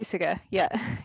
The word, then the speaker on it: Puysegur: Hopefully I'm pronouncing that right. Is it Puysegar? Puysegar, yeah.